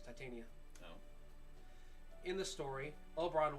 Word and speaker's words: Titania: fairies and his Queen titanium no it's Titania no in the story